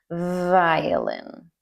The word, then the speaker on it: violin: Notice my lips do not touch when I say a V. Violin. And also the V is the same mouth position as the F sound. The F sound is so the only difference is vibration. Notice F and V.